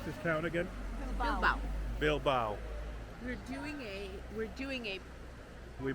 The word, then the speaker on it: Bilbao: How do you pronounce this town again? Bilbao.